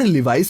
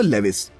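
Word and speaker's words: Levi's: जी हाँ, जैसे कि अधिकतर लोग नाइकी को नाइक कहते हैं और लिवाइस को लेविस। इसी कड़ी में आपको बता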